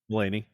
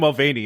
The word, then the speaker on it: Mulaney: Mulaney. You keep calling him Mulvaney.